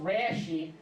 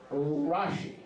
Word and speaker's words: Rashi: i have a rashi okay but it's not pronounced rashi is pronounced rashi okay rashi is an acronym now all the